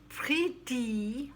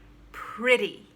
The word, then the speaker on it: pretty: it's often heard as pretty or pretty which is how it looks like it's it's spelled that way but it's pronounced short i and a t as a d pretty alright recipe not recipe